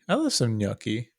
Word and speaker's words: gnocchi: Oh, Gnocchi. gnocchi. I love some gnocchi. You say it weird, man. I don't like it. Gnocchi. You put too many syllables in there. What are you talking about? It's gnocchi.